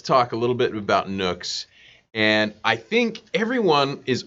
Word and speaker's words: NUC: Some people call it NUC, other people call it NUC, and NUC is the rhymes with luck, and it stands for the next unit of computing, NUC.